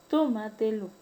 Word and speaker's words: tómatelo: ¿Y cuándo es una palabra sobreesdrújula o superproparoxítona? Cuando la mayor fuerza de voz recae en la sílaba tras antepenúltima. Tenemos el caso de préstamelo, tómatelo.